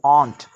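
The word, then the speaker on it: aren't: அதை எப்படி உச்சரிக்க வேண்டும் சொன்னால் ஆரின் என்று உச்சரிக்கக்கூடாது, ஆண்ட், ஆண்ட் ஐ என்று சொல்ல வேண்டும்.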